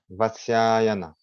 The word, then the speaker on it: Vatsyayana: Le premier commentaire sur le Nayana Sutra et il y a un commentaire composé par Vatsyayana. On doit prononcer comme ça, Vatsyayana.